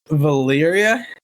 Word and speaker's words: Valyria: Could you pronounce Valyria for me? Valyria?